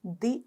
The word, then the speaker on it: the: तो दी अर्थ, यहां पर साउंड कैसे बोलोगे, प्रोनाउंस कैसे करोगे, यहां पर दी करोगे, बाकी सबको द। अभी यहां पर आप इसे दी अर्थ ऐसे पढ़ेंगे क्योंकि आगे शब्द वाली साउंड वॉवल है। क्या है? वॉवल है। तो दी अर्थ, है, ई, ठीक है, ओके, शब्द वॉवल है, AEIOU।